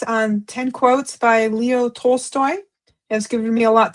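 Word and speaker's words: Tolstoy: 10 divine quotes from uh Leo Toy Story. I hope I said that right. Toltoy.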